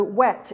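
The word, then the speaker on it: whet: this wet stone so wet is spelt w-h-e-t which means sharpen and this would have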